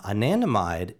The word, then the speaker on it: anandamide: the nanda mine uh anandamide is ananda is a sanskrit word that means bliss so anandamide